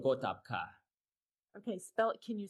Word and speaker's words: Gotabgaa: So usually it's called Gotapka. Okay, can you spell that for me?